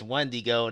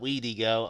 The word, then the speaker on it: Wendigo: And believe it or not, it was Wendigo, not Weedigo. I was like, man, I don't want to put this up on YouTube.